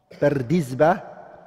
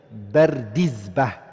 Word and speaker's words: Bardizbah: Bardizba, it's a Persian word, and it means farmer. That's the correct way of saying the name. Bardizba, that's how you say it.